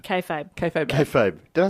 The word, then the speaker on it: kayfabe: Kayfabe. Kayfabe. Kayfabe. Did I say kaybabe?